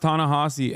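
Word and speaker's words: Ta-Nehisi: that's for a time it's pronounced tanasi FYI I know I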